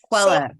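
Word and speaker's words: Coelho: Pronounce that for me. Quello.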